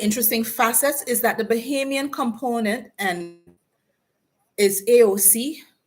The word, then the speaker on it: Bahamian: facets is that the Bahamian component and is AOC congresswoman AOC kept pronouncing it bahamini I was it learned the country's names and how to say where they're from please U.S people the